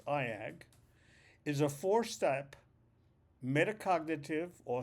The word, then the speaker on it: EIAG: reasons for the tragedy the E A which I pronounce AAG is a four-step metacognitive